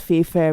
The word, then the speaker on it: FAYE FAIRE: Pronounced FAYE FAIRE with silent e's.